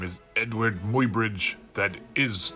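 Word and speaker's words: Eadweard: up his sleeve elbows out my name is Edward Muybridge that is pronounced end weird and yes I will take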